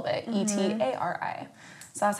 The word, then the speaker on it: Etari: But I was like, okay, I don't want to do exactly that, so how about I pronounce it Utari, and then I'm gonna just change the spelling a little bit, Etari.